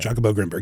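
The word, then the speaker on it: Jacobo Grinberg: Jakobo Grimberg. Yeah, we pronounce it that way.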